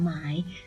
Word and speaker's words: 买: คะ คำ คำ นี้ ออก เสียง ว่า หมาย moai มาย ทำ นี่